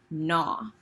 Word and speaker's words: gnaw: The last word is this word gnaw. The word gnaw looks funny because it has a G, but the G is silent. In the book, gnaw means to bite or chew over and over again.